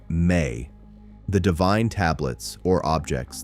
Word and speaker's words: ME: This is encoded in the Sumerian concept of the Me, pronounced May, the divine tablets or objects that contain the blueprints of civilization.